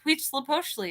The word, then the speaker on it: Huitzilopochtli: names because we have no idea how to pronounce these. And I was like, well, it's Huitzilopochtli.